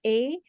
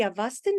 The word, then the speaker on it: Avesta: Avesta is spelled as A-V-E-S-T-A, Avesta.